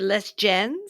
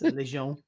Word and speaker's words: Les Gens: This is called, I'm not going to say it right. Les Gens. No, it's Les Gens. Les Gens. It means the people. The people.